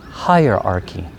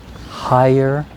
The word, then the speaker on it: hierarchy: The vocabulary word is hierarchy. So higher, arc, e. Let's say it together. Hierarchy.